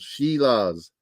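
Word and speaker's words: Šilovs: Shilovs. That's how they pronounce it.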